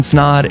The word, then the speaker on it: Snaadt: My name is Snaadt, it rhymes with odd, and welcome to the best year of my life, 2022.